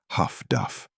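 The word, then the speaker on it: HF/DF: Highfrequency direction finding HFDF, pronounced Huff Duff, transformed German radio discipline into a liability.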